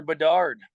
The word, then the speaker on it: Bedard: Is it Bedard? Is that how you say his name? Yeah, Connor Bedard.